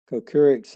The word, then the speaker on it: Kochurik: It doesn't have that E in there, and I noticed Mr. Murphy's pronunciation, and I checked, and there is an E in it, so it's Kochurik as he pronounced it.